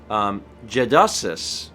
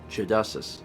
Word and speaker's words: Jadasis: let Steven know that my handle is pronounced Jedusis, since he keeps getting it wrong after the first time. Jedusis. Gedusis. Yeah, I've been giving it a hard A, and it's a soft A.